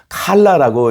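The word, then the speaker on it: כלה: 꼭 기억해 주시기 바랍니다 신부에 해당하는 히오리 단어 칼라라고 읽는데요 여기는 세 가지 특별한 의미가 담겨 있습니다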